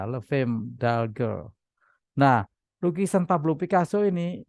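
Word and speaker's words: Les Femmes d'Alger: Le Femme d'Alger. Nggak tahu bahasa Prancisnya gimana bacanya. Setahu saya S-nya nggak dibaca. Le Femme d'Alger.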